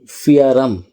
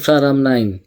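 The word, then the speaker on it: พระราม 9: যেমন হচ্ছে গিয়ে আমরা যেটাকে লেখা আছে মাক্কাসান, ওরা বলছে মাকাসান, যেটা হচ্ছে ফিয়ারাম নাকি ফিয়ারাম 9, ওরা হচ্ছে ফ্রারাম 9, এরকম।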